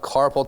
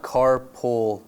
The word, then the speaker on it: carpal: And it is not carpull tunnel. Is that what I said? No, but I get I get Well, I mean that's phonetically it's carpull tunnel, but it's not C A R